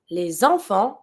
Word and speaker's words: les enfants: Les enfants, see I'm making the link because I have my vowel from enfant. I'm going to pronounce my S from les. Les enfants jouent dans le jardin.